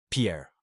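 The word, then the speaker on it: pear: La poire se dit Pierre. Attention à ne pas confondre avec Alpè Sve qui signifie une paire car il se prononce de la même façon.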